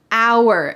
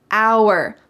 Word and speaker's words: hour: done with my hair hour notice that the H is silent hour we waited for an